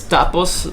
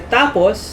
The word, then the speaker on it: tapos: So when you say tapos, there's a bit of like a, what do you call this? I wouldn't say pause, but there's a bit of an emphasis on the first syllable. In the first syllable, right. Tapos, that means and then. But when you say it fast, like this one, tapos, that means finished or like to finish, basically.